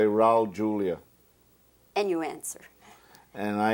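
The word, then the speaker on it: Julià: It's not the H sound. It's not Julia. Well, Julia would be in Spanish. Julia is in Catalan. And my family has always pronounced it like they pronounce it in Catalan.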